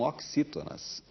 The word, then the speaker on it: oxítona: na última sílaba são oxítonas lino que saber como se pronunciava aqueles como se fosse cs o ano letivo estava